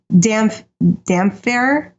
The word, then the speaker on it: Damphair: The damp hair. The damp hair, yeah. Yeah, because Roy Dotrice did that in the books. He would say Damphair because of the way it's spelled.